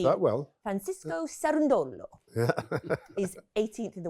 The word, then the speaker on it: Cerundolo: I was interviewing Francisco Cerundolo, who is the Well, you pronounced that well. Francisco Cerundolo.